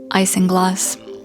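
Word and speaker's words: isinglass: Editing me to say it's pronounced icing glass.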